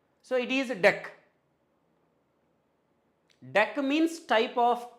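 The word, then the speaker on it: deque: why I am telling this should not be pronounced as DQ guys and it is d e qu u e so it is deck deck means type of Q and DQ means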